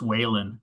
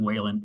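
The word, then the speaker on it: Walen: Does somebody have that pronunciation so we can all get it right the rest of the session? It's Whalen, Representative Whalen, Amy Whalen.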